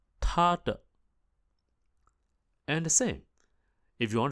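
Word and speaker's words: 他: in Chinese very interesting the pronunciation of he and she are exactly the same although the writing is a little bit different so he or she in mandarine Chinese are both pronounced as ta T So to say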